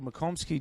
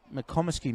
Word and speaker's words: McComasky: son headed away nicely Mitchell mccomsky just really mccomasky Mitchell mccomasky apologies on the pronunciation foreign having a very